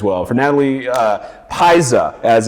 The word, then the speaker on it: Pizza: Fe February as well well for Natalie uh Paisa as it's properly pronounced for mattye Bloom Caitlyn Manning as well